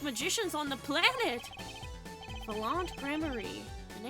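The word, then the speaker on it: Gramarye: Only time they ever give a pronunciation guide in all of these goddamn games. Troop grammarie.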